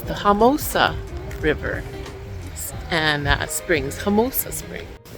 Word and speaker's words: Homosassa: Okay, so that was fun, and I've been saying the name wrong. It's the Homosassa River and Springs, Homosassa Springs.